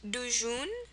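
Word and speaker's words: tuchun: Word number 6 is, it's pronounced dujun, dujun, and its spelling is a little bit funky.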